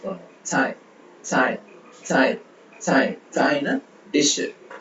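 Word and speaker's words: 菜: ஸோ இந்த C இதை நம்ம ப்ரொனவுன்ஸ் பண்ணும்போது இந்த சவுண்ட்ல ப்ரொனவுன்ஸ் பண்ணுவோம். சாய், சாய், சாய், சாய், சாய்னா டிஷ், உணவு.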